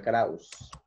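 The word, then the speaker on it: Krause: Se pronuncia Krauss.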